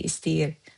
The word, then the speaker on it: istəyir: İstəyir, we write istəyir, we say istiyir.